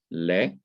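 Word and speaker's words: לְ: So we can call these prepositions le, that is the simple schwa, is underneath it, and it is pronounced like the e in because or au revoir.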